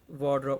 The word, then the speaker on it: ward: अपनी अलमारी ठीक करो, अरेंज योर वार्डरोब। अब अच्छा मैं यहाँ पे इसकी प्रोनाउंसिएशन ठीक करवा दूँ, मोस्टली लोग जो मैंने देखे हैं गलत बोलते हैं।